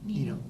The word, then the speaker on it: Nino: Nino. Nino. Rhymes with yours.